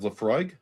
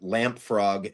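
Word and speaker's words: Laphroaig: And you did nail the pronunciation of Leafroy. However, I do accept Lamprog as a answer as well.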